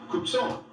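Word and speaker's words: Cuk Ṣon: Rich agricultural history of kubsan Tucson the original way to pronounce Tucson the thermal Autumn have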